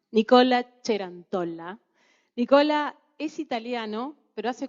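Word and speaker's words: Nicola Cerantola: Bueno, me toca presentar a mí me gusta pronunciarlo en italiano, Nicola Cerantolla.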